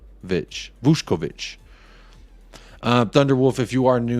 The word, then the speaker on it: Vušković: It says it's pronounced Vušković.